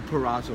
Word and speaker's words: Pareto: Obviously that's another whole subject matter altogether, but it's the 80-20, the Pareto law, is what they call, right? Did I pronounce it?